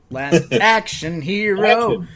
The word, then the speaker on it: Last Action Hero: just Last Action Hero I think the emphasis according to the poster the emphasis is on action Last Action Hero um either way so Action Hero Last Action Hero uh he's the Last